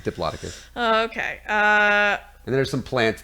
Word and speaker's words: Diplodocus: I can never pronounce Yeah, anything. it's Diplodocus.